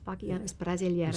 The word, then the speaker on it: Bachianas Brasileiras: And you sang Bachianas Brasileiras, is that how you pronounce it? Yes. Bachianas? Yes, Bachianas Brasileiras.